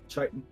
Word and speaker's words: chitin: Titan. Chitin. Titan. H is silent.